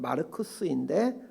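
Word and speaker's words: Marcus: 정확한 발음으로는 마르쿠스인데 우리는 마카 이렇게 읽습니다.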